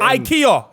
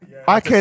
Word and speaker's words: IKEA: IKEA. I just learned that. You just told me. Obviously, he's from Rafs, so he knows. IKEA is say Swedish. IKEA properly.